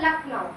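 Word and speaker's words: Lucknow: नकलऊ बोलते हैं ना इसको बोला जाता है लखनऊ क्या लिखते लखनऊ है बट बोलते लखनऊ ठीक है ख उसमें साइलेंट रहता है मतलब बोलते हैं लेकिन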